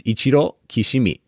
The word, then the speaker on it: Ichiro Kishimi: you the pronunciation it's ichiro kishimi uh how they would say it in japanese and um we'll make